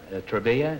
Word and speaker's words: Travilla: Travilla is the way you pronounce it? Travilla. Travilla. Is Thank that you. Spanish or It's actually Italian.